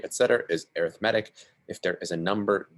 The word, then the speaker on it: arithmetic: let you know uh this word and this form is pronounced arithmetic it's not arithmetic um so this is